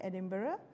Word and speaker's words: Edinburgh: That's how you pronounce it. Edinburgh.